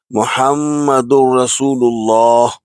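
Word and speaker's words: مُحَمَّدٌ رَسُولُ اللَّهِ: next part muhammadu rasulullah there is shut on the word Meme and in Holy Quran if there is on letter meme or noon then it has to be a bit elongated to two harakatane so we pronounce muhammadu rasulullah to conclude we should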